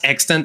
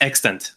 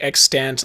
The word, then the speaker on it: EXTNT: saw the bio and the bio said it's pronounced extent on my YouTube channel but then you thought you how did you think it was said? I thought it was pronounced like extant like with a hard